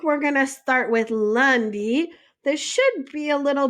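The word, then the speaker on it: lundi: of the week we're going to start with Lundy this should be a little bit familiar so ly we have is Monday Lundy so Lundy is Monday Lundy next is Marty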